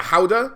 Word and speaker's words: howdah: And I think we've had it confirmed that it's both a mount and we have the little, I think it's the Howdah. That's how they say it.